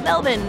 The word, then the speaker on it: Melbourne: melbourne and thats a very american way of saying it i guess from now on we call it melvin just like the locals we're not trying to